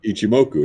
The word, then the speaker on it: Ichimoku: what's that damn thing ichimoku how do you pronounce that damn thing yeah ichimoku yeah ichim Moko using the cloud which how